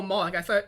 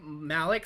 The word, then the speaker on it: Moloch: Oh, Moloch. I was thinking of, you pronounced it Malik, so I was thinking of, like, Dark Malik from Star Wars.